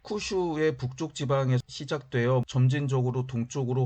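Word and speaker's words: 九州: 중국과 가까운 서쪽에 있는 구주, 일본어 발음으로 쿠슈 지방에서 생겨났을 가능성이 상당히 많이 있습니다.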